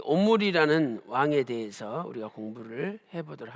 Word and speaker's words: 오므리: 그래서 오늘은 이 오므리라는 왕에 대해서 우리가 공부를 해보도록 하겠습니다. 자, 두 번째로 오므리의 이름의 그 뜻에 대해서 살펴보도록 하겠습니다. 히브리어로 이 오므리는 우리말 발음도 똑같이 오므리예요. 오므리.